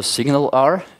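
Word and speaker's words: SignalR: the gist of it there's also signal R it's pronounced like that hence the photo um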